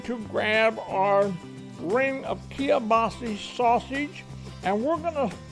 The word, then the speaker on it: kielbasa: I said kielbasa. Some people pronounce it kielbasa. You know, it doesn't matter. It all tastes the same regardless of how you pronounce it.